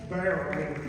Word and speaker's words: Barone: Barone. Did I pronounce that correctly? Barone.